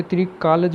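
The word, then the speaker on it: त्रिकालज्ञ: ये त्रिकालज बोलता है वैसे, जो ग है ना इसको जय बोलते हैं, गलत प्रोनाउंसिएशन करते हैं वैसे हम बचपन से।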